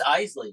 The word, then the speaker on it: Eisley: to say it wrong it's isy like the isy brothers Eisley Wes and Natalie